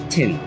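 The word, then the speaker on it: Qin: corner of this hidden restaurant called taste of kin taste of tin taste of tin even though there's a queue it's pronounced tin yeah so q-i-n but it's pronounced this plaza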